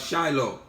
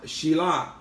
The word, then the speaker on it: Shiloh: The scepter, the Shabbat shall not turn aside from Yahudah, nor an inscriber from between his feet until Shilah, falsely pronounced as Shiloh, more accurately pronounced Shilah, and we understand that this is an epithet of the Mashiach.